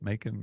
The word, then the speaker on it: Macan: And anyways, Somebody's got a Porsche Macan out there. Is that how you say it? Macan?